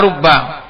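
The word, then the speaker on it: رُبَّ: keenam huruf-huruf khafad adalah rubba bidamir ro wa fathil ba almusyaddatah dengan dibacanya dengan roh rnya itu didamah karena apa?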